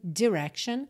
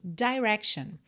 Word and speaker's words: direction: opções diferentes de pronúncia essa primeira sílaba ela pode ser com o i mais fechadinho Direction ou com i mais aberto Direction tá e na música